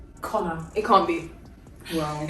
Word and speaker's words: Conchubhar: Conchubar. It is pronounced Connor.